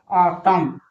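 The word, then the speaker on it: autumn: ऑटम ऑटम नहीं ऑटम। यहां एन क्या है?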